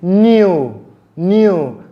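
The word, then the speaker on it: knew: and N, many times the letter K in that word, which is supposed to be pronounced as ka, will be silent. For example, we have the word knee. I go down on my knee. The next word is new. That will be the past tense of know, when you know something.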